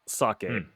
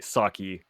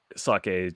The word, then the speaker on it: sake: Oh yes, the first one we'll talk about is sake, which in English, first off, usually people say sake, so usually we don't say it correctly.